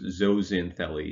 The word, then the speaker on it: zooxanthellae: is zosin philly so if you just take the x and pronounce it like a z then this is basically spelled out phonetically so it's zozin philly is how we pronounce